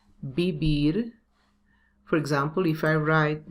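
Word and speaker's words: vivir: in that v so you have to pronounce b and v like b bibir for example if i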